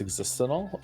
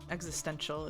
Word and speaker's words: existential: I always love the way Joe says existental. Do I say it wrong? Existential is what you might be looking for.